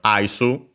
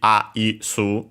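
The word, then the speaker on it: アイス: And yeah, it's simply Aisu, so yeah. Just like in English, only with the additional U at the end. accent on the first mora, first syllable even, you could say, doesn't change in this case. So high and everything else low.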